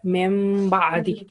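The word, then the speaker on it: مِن بَعدِ: Here we are just pronouncing the sound of meme. So it will be mem ba'di.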